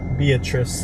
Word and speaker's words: Beatrice: see how far away is Beatrice Beatrice I think is actually how it's pronounced Beatrice Nebraska I butchered